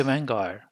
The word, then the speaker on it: Vanguard: a basket of stocks so when we say vanguard drop the d off so here a lesion also happens so we end up saying van gaar vanguar smp 500